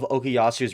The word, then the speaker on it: Okuyasu: Like you pronounce it like that. Okay. Anyway, so Josuke's best friend, the Okasura, is that how you say Okuyasu.